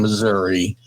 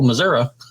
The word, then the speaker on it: Missouri: patel the other day i couldn't say missouri right i was saying missouri he says no missouri yeah yeah oregon the